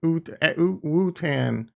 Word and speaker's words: Wootan: Tan pronounced like tan. Ootan. Wootan.